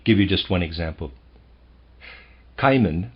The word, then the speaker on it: Cimon: Cimon, I'm going to pronounce that Cimon, C-I-M-O-N, a well-known historical figure, had a friend called Astyphilus, who knew how to interpret dreams.